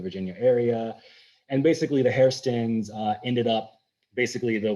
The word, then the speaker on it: Hairston: the immigrant who was the original hairston pronounced hearthstone by the scottish and um immigrated over